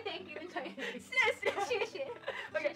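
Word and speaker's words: 谢谢: 谢谢。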